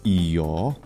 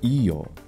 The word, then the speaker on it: Io: his way with IO in ancient Greek her name is e note the pitch accent I'll be using the classical attic pronunciation of ancient Greek in this video in Latin it's EO now this planet and